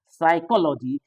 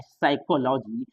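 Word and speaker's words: psychology: confuse हो जाते हैं साइकोलॉजी त पी साइलेंट होता है साइकोलॉजी पी के बाद एस तो पी का उच्चारण नहीं होता है साइकोलॉजी इस तरह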